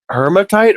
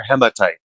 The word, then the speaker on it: hematite: Uh, is it hermatite or hematite? Hematite. Is it Is there an R?